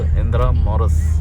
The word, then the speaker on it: Intramuros: City इंदिरा मॉरिस। So they pronounce it as इंदिरा मॉरिस।